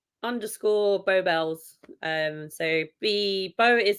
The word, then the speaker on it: Beau Belles: So I'm _ Beau Bells. So Beau is spelled BEAU and Bells is BELLES.